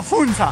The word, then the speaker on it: Funza: me tias hasta que hasta fusa más o menos qué Cómo que hasta fusa hasta funza Ah ya todo asustado